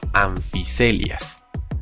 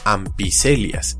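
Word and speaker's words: Amphicoelias: Por ejemplo, en que se pronuncia como anfiselias. Si lo notaron, no lo leí como ampicelias, y es porque se vienen otras reglas de pronunciación.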